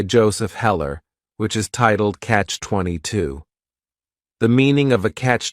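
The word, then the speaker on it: Catch-22: it's a compound noun the word catch is just one syllable and then 22 is three syllables and the stress is is on that final syllable Catch 22 the word comes from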